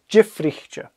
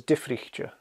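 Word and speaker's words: diofraichte: I've heard it pronounced as Difrichcha, a strong D. You'd probably hear Jifrichcha more often. Jifrichcha. Yeah. So I recommend saying Jifrichcha.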